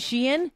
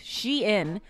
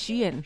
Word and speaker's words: Shein: all the time okay it's pronounced shein but a lot of people say Sheen it's she I thought it was Sheen no it's shein Sheen oh Sheen yeah